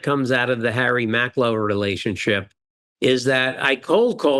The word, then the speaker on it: Macklowe: Bob, I know you shared a story about, was it Harry Macklowe?